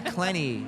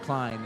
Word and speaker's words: Clenny: Mary Clenny, as I was corrected by Pterodactyl. I think I was saying it wrong because you were saying it wrong. Clenny, not Klein.